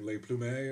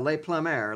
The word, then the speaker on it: Le Plumber: Is it like Le Plumet or something like that? No, Le Plumer, like fucking... Like a plumber.